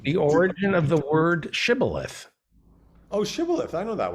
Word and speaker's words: shibboleth: from the victorious side would ask each of them to pronounce the word shibboleth, which means in Hebrew the top of a stalk of wheat. And they couldn't do it. They would say sibboleth instead of shibboleth.